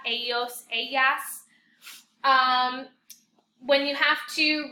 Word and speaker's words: ellos: A lot of you are saying Ella and Elos. Remember, your double L makes a Y sound in Spanish. So ella and ellos. And you're going to be using those a lot throughout Spanish. Ella, ellos, ellas.